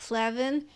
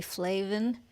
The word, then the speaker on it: Flavin: so I know uh Mike Flavin has since told me it should be flaven but I'm sticking to